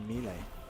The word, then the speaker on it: melee: Jarvis Sensei has brought up the How do you pronounce melee? Melee. Some people say me lay. Or me lay. No, me lay.